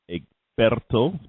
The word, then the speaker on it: Egberto: This is Egberto, Egberto, pronounced correctly.